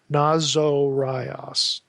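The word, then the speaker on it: Ναζωραῖος: Nazorios. Notice there's a long O there. Nazorios.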